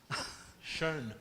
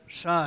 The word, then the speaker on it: Schön: O Schön, e acabei de ser corrigido na pronúncia. Schoen. Schön. Deutsch. Schön. Schoen.